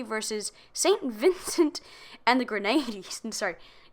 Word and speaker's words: Grenadines: Vincent and the Grenadines. It looks a lot like grenades. It's Grenadine.